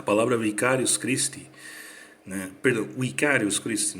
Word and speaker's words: vicarius Christi: A palavra vicarius Christi, né, perdão, vicarius Christi, né, seria uma pronunciação mais correta no estilo clássico, né?